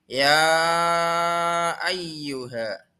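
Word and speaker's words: يا أيها: Yang pertama yaitu lafal ya ayyuha. Ya-nya harus dibaca panjang karena disebut dengan mad jaiz munfasil.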